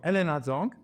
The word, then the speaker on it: Helena Zhang: So you're Helena Zhang, Yes. right? I pronounce it cool?